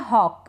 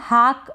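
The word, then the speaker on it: hawk: इसको स्ट्रॉ यह है हॉक इसको हम हक ना पढ़े आप इसको पढ़ेंगे हॉक मतलब कि बाज हॉक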